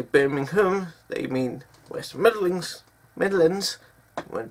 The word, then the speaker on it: Birmingham: Birmingham is Britain. Birmingham is in Alabama. Ham, not hum. Birmingham, hum. Spelled ham, but it's pronounced hum. When people say Birmingham, they mean West Midlands.